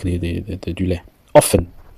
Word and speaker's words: often: Often. Quand on dit quelque chose souvent, on dit often, on dit pas often, on dit often.